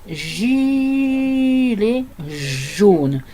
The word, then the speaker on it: gilet jaune: barbare qu'est le français, on dit gilet jaune. C'est difficile hein, pour les langues qui n'ont pas de J comme l'allemand. Les Allemands disent des gilets jaunes et les Anglais disent des gilets jaunes.